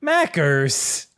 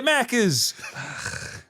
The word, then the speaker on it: Macca's: Mackers. Yeah, Macca's. We don't want to say an extra syllable.